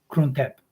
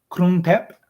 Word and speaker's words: Krung Thep: Never trust my pronunciations, but it's more or less Krung Thep, which means City of Angels.